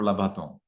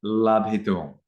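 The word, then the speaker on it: labhituṃ: So of course it is labhitung. Why? Because you had in the grammar explanation for the infinitive, if the verb has 2 syllables, if the root labha, okay, if it has 2 syllables, you will have to add I. So it's labhi.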